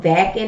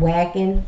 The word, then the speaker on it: Wacken: was pronouncing it wrong it's called what i think it's called vacuum instead of wagon i thought i said